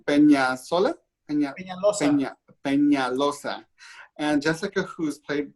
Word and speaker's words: Peñalosa: Peñalosa.